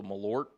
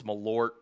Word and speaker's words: Malort: Oh, is it pronounced with a T? So, Malort. Have I been saying it wrong? Is it Malort or Malor? Pronounce it right you Texans. That's Malort. Meort. Apologies. Malort.